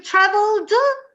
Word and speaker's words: traveled: So you traveled. Of the final ED, you normally only pronounce the D.